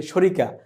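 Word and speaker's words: شركة: খুব পরিচিত বলে যে শরিকা এই শরিকা শব্দটি মূলত উচ্চারণে শরিকা বললেও শব্দটি হচ্ছে শারিকা শারিকাতুন বা সারিকা এই শারিকাতুন আরবি শব্দ এটির বাংলা হচ্ছে কোম্পানি।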